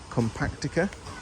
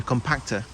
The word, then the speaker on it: compacta: Then we've got some Chamaerops compactica. Is that what I said? No, compacta. Put an extra syllable in there.